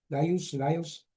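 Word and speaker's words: Laïos: Et Laios, je crois, on prononce avec la S en français, Laios, et il ne baise pas sa mère dans la tragédie.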